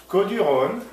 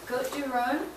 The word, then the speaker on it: Côtes-du-Rhône: Côtes-du-Rhône is one of the main regions in France